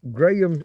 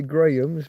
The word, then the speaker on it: Graham: Uh, Americans I'm told Graham I will say Grahams because that's how we would say it. For you the H doesn't exist because you you follow Spanish pronunciation for some reason.